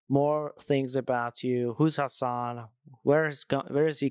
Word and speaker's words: Hassan: people uh like say my name so it's Hassan and it's something that I get like used